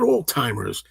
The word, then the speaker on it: Alzheimer's: I looked it up and I said, "No, no, there's a even it's like that's the way it's pronounced like a slight T sound alzheimer's."